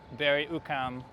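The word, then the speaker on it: Berri-UQAM: And we are currently at the uh Ber Ukam Metro Station which is spelled B E R R I Bry Ukam UQ A M.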